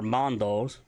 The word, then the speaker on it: Mando: Mandalorians in general, are Mandos, spelled M-A-N-D-O, pronounced M-A-H-N-D-O. So you're going to put a harder emphasis on the man than you do the do.